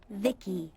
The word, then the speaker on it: Vici: them by the way i'm vici pronounced vicky my creator was vivisecto